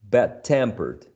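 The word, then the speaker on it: bad-tempered: if you prefer um whenever you have a compound adjective you stress the second element on the first syllable tampered the second element on the first syllable fashioned okay bad tempered old-fashioned okay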